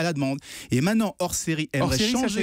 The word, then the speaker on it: Orséry: Et maintenant, Hors Série aimerait changer. Hors Série, ça s'écrit O-R-S-E-R-Y.